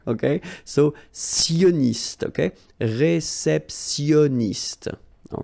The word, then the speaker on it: réceptionniste: let's see them, un réceptionniste, okay, remember when you get this T-I-O-N, so normally it will give you this S, I mean, I'm talking about the T here, okay, so sioniste, okay, réceptionniste, all right, then un